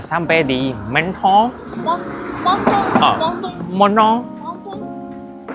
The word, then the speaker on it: Menton: Montong monong montong. Tulisannya itu menton bacanya monon.